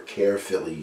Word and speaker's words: Caerphilly: This is March the 3rd when I'm making this video, and that's 8 weeks since I made the Caerphilly cheese, or Caerphilly cheese, depending on who's pronouncing it, I guess.